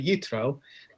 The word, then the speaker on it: Yitro: um is roughly speaking and which is jethro right that's the name there transliterated from from the hebrew but it's really utro uh so you can